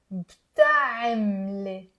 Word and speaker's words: بتعملي: شو عم with عين عم بتعملي. It's not بتعملي 4 syllables. It's 3 syllables.